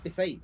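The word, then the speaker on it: Pichai: Pronunciation है पिसाई। हाँ क्या क्या बात कर रहे हो? मेरे को भी नहीं पता था पिसाई है सच्ची में। मुझे तो पिचाई लगता था। भी पिचाई लगता था। मैं उसको प्यार से सुंडू भाई बुलाता था। तो मैं सुंदर को सुंदर नहीं, अब जब CH का प्रोनाउंसिएशन S है तो S का प्रोनाउंसिएशन CH है।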